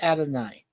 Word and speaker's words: Adonai: Yeah, isn't it like Adonis or? No. It's in Greek. It's pronounced Adonai.